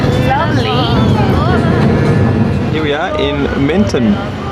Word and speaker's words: Menton: Here we are in Menton, pronounced Mentone by those wacky Italians, and it is lovely.